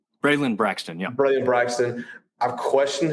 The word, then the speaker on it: Braylon Braxton: Braylon Braxton, yeah.